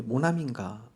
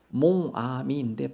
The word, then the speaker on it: 모나미: 그래서 이름을 왜 모나미인가 알아봤더니요. PPT 보면 불어로 몽은 나이란 뜻이고요. 아미 친구란 뜻입니다. 그래서 원래 몽아미인데 발음상 힘드니까 그냥 모나미에서 모나미 볼펜이 탄생이 되었다고 합니다.